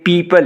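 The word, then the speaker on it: people: फिर यहाँ पे देख लें पीपल, अब अमूमन जो है इसको हम प्यूपल पढ़ लेते हैं, ये प्यूपल नहीं है बल्कि ये पीपल है, पीपल। तो पीपल, ये जो आई है ये आवाज़ इसको लंबा करना है आपने क्योंकि ये लॉन्ग वावल है, पीपल।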